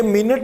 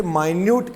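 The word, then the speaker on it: minute: वैसे सेंस ऐसी आती है कि माइन्यूटली सब कुछ लिख लेना, शायद ऐसा ना, ये मिनट ही बोलते हैं इसको।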